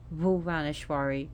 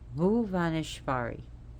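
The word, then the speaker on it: भुवनेश्वरी: When you're pronouncing Bhuvaneshwari, you want to pronounce it with a soft B because it's a BH. So it's not boo like in boy or butt. It's boo. Very soft B. So Bhuvaneshvari.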